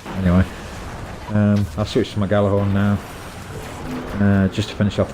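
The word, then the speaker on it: Gjallarhorn: Which apparently Galahorn's actually pronounced Yalahorn, but that just sounds wrong, so I'm going to call it Galahorn.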